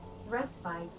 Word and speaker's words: respite: I've always been pronounced respit. I always thought it was rest bit. Is it not rest bit? Is it respite? Respit. Restit. All right. What's the British translation? Rest bite. Okay, so I pronounce it American, but British is rest bite.